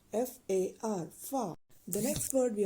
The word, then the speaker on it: far: father in Danish we will say it as far f a r far the next word we are about to